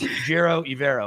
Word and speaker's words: Ejiro Evero: Now, Ejiro Evero, and the only reason I know exactly how he pronounces it, I've talked to him 100 times, I saw a video where he sit there, he goes, "My name is Ejiro Evero."